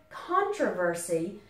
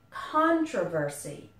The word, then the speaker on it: controversy: this for a moment in the word controversy the stress is on the con controversy but in controversial the